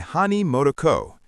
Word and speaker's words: Hani Motoko: Kakeibo, pronounced Kakeiba, was invented in 1904 by Hani Motoko.